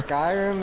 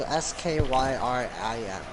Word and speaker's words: Skyrim: Skyrim is spelled S-K-Y-R-I-M. Skyrim, literally as you said it. Sky and then a rim.